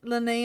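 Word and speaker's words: Lyney: convinced that it was Len and Lynette Lenny and Lynette I I I keep I keep saying it with the the why at the end but the why is silent at the end apparently yeah that whole section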